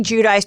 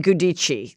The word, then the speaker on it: Giudice: I say Giudice, but then they say Gudici. There's two ways. There's two ways to say it.